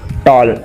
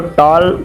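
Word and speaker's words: tall: चोली बता दिया मैं टोल टोल की स्पेलिंग क्या होती है इसमें डाल नहीं बोलेंगे याद रखिएगा ठीक है डबल है लेकिन इसको तौल बोलते हैं टाल नहीं ठीक है कि दिए डबल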